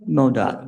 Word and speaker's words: MoDOT: How do you say that? MDOT, MoDOT? MoDOT. That's Missouri Department of Transportation.